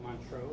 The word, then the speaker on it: Montreux: Live at Montreux. Is that the right way to say it? Not sure. Montreux.